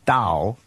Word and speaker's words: Tao: So in the end, it's pronounced Dao and actually written Tao with a T.